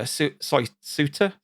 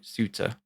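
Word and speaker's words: Souta: whose name is uh Suiter so Suitor spell it s-o-u-t-a Santa yeah it's pronounced completely different in Japanese and uh yeah so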